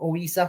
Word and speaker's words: Ouizza: there against wed huza I think you pronounce his name oisa something like that is a french guy